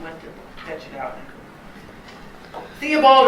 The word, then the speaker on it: Theobald: to catch it out theobald archbold as his name is usually pronounced sharply criticized Pope's addition